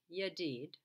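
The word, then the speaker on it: ידיד: the c is now if you double the syllable and you have yad twice there it's pronounced yadid and it means lovely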